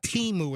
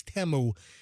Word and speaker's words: Temu: like temu tmu and it's I believe it's pronounced temu it's not it's not teu it's temu and he's ordering this crap where there's like